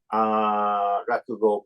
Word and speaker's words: Rakugo: How do you pronounce it? Rakugo, yes, Rakugo?